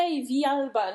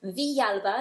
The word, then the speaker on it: Villalba: Riviera fireflies I've got with me today fa vialba no I knew i' pronounced that wrong how' you pronounce it vialba I know you did okay which comes from